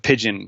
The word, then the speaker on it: Pyjion: He came up with Pigeon, which is spelled Pyjion. It throws everyone for a loop until Dino or I tell them it's pronounced Pigeon.